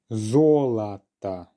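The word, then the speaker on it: золото: be okay great volata zolata yes so the first syllable is the one under stress therefore the last two letter or are going to be reduced zolata which is gold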